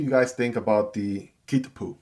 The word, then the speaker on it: Kitpu: Kitpu. Kitpu.